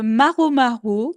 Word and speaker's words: Maro Maro: Moi, je vous propose un guitariste, Maro Maro, que j'ai découvert, il y a pas longtemps. Donc son compte Instagram et YouTube, c'est maromaro.mp3. Ça s'écrit vraiment comme ça se prononce et donc c'est OK.